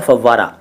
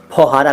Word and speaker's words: फव्वारा: अगला शब्द है फव्वारा। फौहारा कहते हैं कई लोग, फुहारा कहते हैं, सही शब्द है फव्वारा।